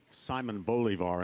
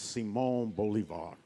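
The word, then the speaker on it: Simón Bolívar: Beauvoir um and um North americanas uh in their Exquisite ignorance of all things Latin America pronounce him almost anything Simon Bolivar in particular um well it's Simone Bolivar um I have been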